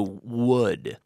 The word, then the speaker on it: would: on the pronunciation there the pronunciation of this word wood which is just the same as wood as in madera in terms of pronunciation wood wood wood and now what I